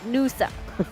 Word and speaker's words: Nusa: last loosa my friend not loosa nusa let's do stuff my